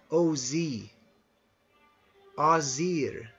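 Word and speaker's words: Æsir: as the a or it's spelled a s i r but it's sort of pronounced Oz air the azir and the IR at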